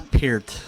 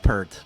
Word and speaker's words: Peart: It's Peart. Peart. Not Pert. Pert is a shampoo.